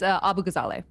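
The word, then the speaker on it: Abughazaleh: I've been Have I been saying your surname wrong? I'm sorry. Yeah, it's Abu Gazale.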